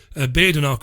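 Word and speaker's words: Badenoch: woman called kemi badanok I think it's pronounced b-a-d-e-n-o-th badenark or badanocami anyway she grew up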